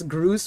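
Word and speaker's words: Grus: And then his name is pronounced Prince Groose with an S in the end.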